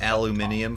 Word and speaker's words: aluminium: Oh, would you Same, call it but- like aluminium foil? So I was gonna like, how do you say it when it starts with A? Oh, aluminum.